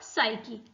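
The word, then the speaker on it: psyche: तो 4P इसमें होते हैं पावर, पैसेंजर, पैसेज और साइकी। ठीक है, साइकी में P आ रहा है, P क्या है इसमें? साइलेंट है।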